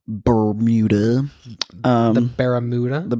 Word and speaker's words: Bermuda: I think you're putting the wrong emphasis on the syllables. Bermuda. The Bermuda? The Bermuda Triangle.